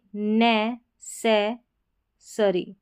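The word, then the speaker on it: necessary: तो यहाँ पर है ये नै, से, सरी, नेसेसरी, यहाँ पर अ साउंड आ रहा है, ठीक है, अरी करके आ रहा है, ARY का, नेसेसरी, नेसेसरी।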